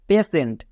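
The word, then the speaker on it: patient: জন্য তালিবস্ত হচ্ছে কেন এক্ষুনি বলে আসলাম টি আই ই এন টি থাকলে সেন্ট হয়ে যাবে আর পি এ এর জন্য পে আর সেন্ট তাহলে কি দাঁড়ালো পে সেন্ট এখানে দেখো টি এর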